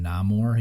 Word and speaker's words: Namor: played a bunch of that I think uh pronounced his name namore he was almost like Aquaman so he was